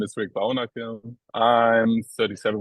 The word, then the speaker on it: Baunacke: Baunacke? Hey, Baunacke, yes, it's okay. Baunacke. Okay, so there's a bit of a, Yes. as in Bauhaus. Yeah, Baunacke.